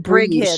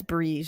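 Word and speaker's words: Brigid: It's basically Bridget, but it's like Bri is how I was saying it in my mind, but it's Bree.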